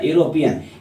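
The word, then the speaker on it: European: letter भवेल है लेकिन इसका हिंदी उच्चारण किस तरह हो कंसोनेंट की तरह किस तरह कंसोनेंट की तरह यूरोपियन य से शुरू होता है यानी यो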